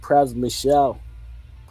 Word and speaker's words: Pras Michel: I don't know if it's caught your attention, but Pras Michel, I believe it's pronounced, or Praswell, formerly of the Fugees.